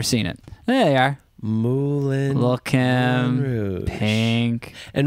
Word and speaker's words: Moulin: I think we have to watch Moulin Rouge.